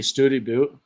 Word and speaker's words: Study Butte: There's like Study Butte, which is supposed to be Studi Butte. It's like Studi Butte or something like that, but it's spelled study.